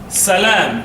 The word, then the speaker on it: Salam: right yeah it's called Salam very simple Salam two syllables but it has a